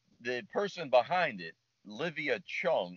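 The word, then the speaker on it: Zheng: person behind it olivia chung even though it's spelled z-h-e-n-g it's pronounced chung uh dear friend i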